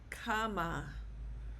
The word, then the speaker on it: cama: The C is pronounced like the letter K. So this word, the stress is on the first A, cama.